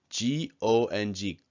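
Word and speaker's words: 공: So remember, when this is in the bottom, it's ng, G-O-N-G, gong.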